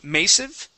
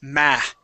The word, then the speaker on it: massive: Okay, this word here, you gave a long A sound saying massive. Okay, the word is massive.